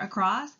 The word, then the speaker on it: across: So our very first word, across, has the schwa sound spelled with an A, which you hear in the first syllable, and it's also a combination of two words, across, across.